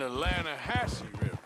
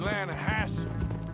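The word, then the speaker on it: Lannahechee: some beautiful steelhead trout you mean atlanta no no no no no the atlanta hatchet it runs right near here yeah but it's pronounced land hassle why is everything in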